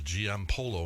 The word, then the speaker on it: Giampolo: Okay, we have Giampolo.